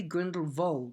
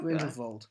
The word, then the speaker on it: Grindelwald: Johnny Depp has been cast as young Grindelwald, or possibly Grindelwald, because I think that's how Rowling pronounces it. Okay. Grindelwald. Anyway, Johnny Depp's been cast as young... We're going to say Grindelwald now. Vold. Yes. It sounds better.